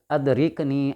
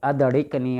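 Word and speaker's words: أدركني: لیں۔ تو وہ بزرگ ادرکنی، ادرکنی اصل لفظ ہے، ادڑکنی، ادڑکنی کہا۔ وہ جس کو وظیفہ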